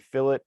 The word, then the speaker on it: fillet: We're going to go straight to a part feature, which are up here, the chamfer and fillet. Let's pronounce fillet, not fillet.